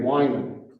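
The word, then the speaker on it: Wieman: In 1946, a University of Chicago theologian, Henry Wyman, his name is not spelled like it should be spelled.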